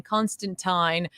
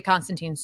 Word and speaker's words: Constantine: is it with pronouncing Constantine the correct way? I always pronounced it as teen, which was fun as an American way in early Hellblazer issues. Tyne is still weird for me.